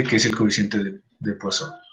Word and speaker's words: Poisson: Este nombre Poisson se pronuncia Poisson, ¿no?